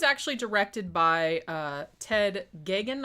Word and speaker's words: Geoghegan: directed by uh ted giggin i think is how you pronounce his last name even though there's a lot more uh letters in there than that now i have actually